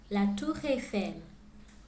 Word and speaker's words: La Tour Eiffel: Paris is known for its attractions, and here is how you pronounce them in French. La Tour Eiffel, le musée du Louvre, la Seine, la cathédrale